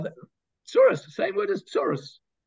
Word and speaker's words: tsurus: So tsar, those that cause you tsar, tsarehem, are the tsurus, same word as tsurus. Yiddish is the Yiddish word tsurus comes from just a Yiddish pronunciation of the word tsarot, tsurus.